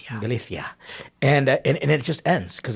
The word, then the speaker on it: Galicia: you just have to say it like the Galicia. Galicia.